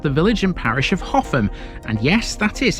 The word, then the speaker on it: Hougham: Rounding off the week in South Castan, we have the village and parish of Hoffam. And yes, that is how you pronounce this. It's not How and it's not Huff or Horn.